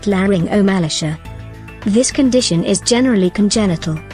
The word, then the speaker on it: laryngomalacia: Parents are often confused and alarmed when they are told their infant or child has a condition known as laryngomalacia, pronounced laryngomalacia.